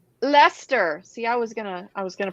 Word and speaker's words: Leicester: Red Leicester. Leicester. See, I was gonna pronounce it incorrectly.